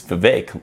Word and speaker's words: Vivek: If you've ever listened to Vivek, he says it's Vivek, like cake.